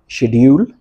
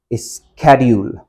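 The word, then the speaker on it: schedule: इसमें पहला है शेड्यूल, दूसरा है स्केड्यूल। और अगर हम अमेरिकन प्रोनाउंसिएशन की बात करते हैं तो हमारे पास है स्केड्यूल एंड देन स्केजल।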